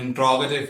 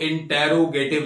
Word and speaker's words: इंट्रोगेटिव: तो आज के इस लेक्चर में हम लोग डिस्कस करने वाले हैं इंट्रोगेटिव प्रोनाउंस को। इसको इंटेरोगेटिव नहीं, आज से आप कहेंगे, सही प्रोनाउंसिएशन इंट्रोगेटिव है।